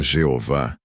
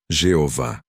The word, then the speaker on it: Jeová: A forma Jeová é bastante conhecida hoje, especialmente por causa das Testemunhas de Jeová. Porém, a maioria dos especialistas em hebraico bíblico concorda que essa provavelmente não era a pronúncia original. A forma que muitos estudiosos consideram mais próxima da pronúncia antiga é Iahweh, ou em português, Iavé.